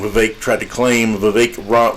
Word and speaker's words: Vivek: Vivek rhymes with Cake Ramaswamy, tried to claim that no, that's not true.